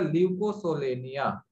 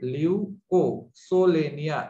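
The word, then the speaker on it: Leucosolenia: तो बच्चों इसका एग्जांपल हो जाएगा ल्यूकोसोलेनिया. ओके, स्पेलिंग मिस्टेक मत कीजिएगा बच्चों. LEU ल्यूकोसोलेनिया, SOLENIA.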